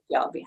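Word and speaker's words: Fjällby: When he first started with the Jets, I didn't know how to pronounce his name. So, but I've got it now. Axel Fjallby.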